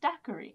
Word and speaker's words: daiquiri: But it's actually pronounced daiquiri.